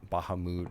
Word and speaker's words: Bahamut: originally same thing I I still say Bahamut even though I know it's like Baha Baha mood or some [ __